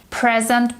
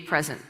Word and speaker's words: present: gave me a present a present is a noun and the stresses on the first syllable i'd like to present